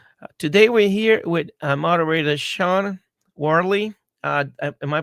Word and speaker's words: Shauna Worley: Today we're here with moderator Shauna Worley. Uh am I pronouncing your name correct?